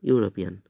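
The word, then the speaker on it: European: ইউ এর উচ্চারণটা দেখো, প্রথম অক্ষরটা যদি ইউ এর মতো উচ্চারণ হয় তাহলে কিন্তু এ বসবে।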